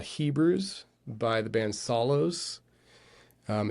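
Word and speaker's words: Psallos: Hebrews by the band Solos. Um, it's spelled it's spelled out P S A L L O S. Solos. The P is silent.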